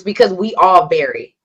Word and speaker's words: VARY: Yeah, so it's vary, but it's spelled, because it's a variation. It's VARY instead of VERY.